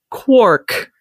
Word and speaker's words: quark: that that's how it should be pronounced it's pronounced Quark but it's spelled Quark so this distinction in